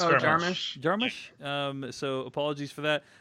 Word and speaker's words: Jarmusch: Martin is correcting your pronunciation of, I think, Jarmusch. Is it Jarmusch? It's Jarmusch.